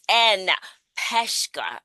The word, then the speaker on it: Anne Peshka: Welcome to the show, Miss Anne Peshka. I didn't even ask how we pronounce it.